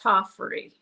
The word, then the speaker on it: Tofferi: back on to make sure I'm not butchering Tofferi. No. Okay. It's okay, Dave. Nobody says it correctly. It's a Yeah. Finnish name. It's a weird Finnish name. It's pronounced Tofferi. Tofferi.